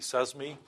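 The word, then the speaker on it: CESMII: smart manufacturing innovation Institute it was actually pronounced correctly says me one should understand where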